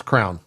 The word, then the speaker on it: crayon: color things with crayon oh crayon it's Crown Crown no it's not I've heard say it like that like cranberry it's Crown I've heard it said cray it's Crown see yeah that's apparently that's that's a Texas thing this is another regional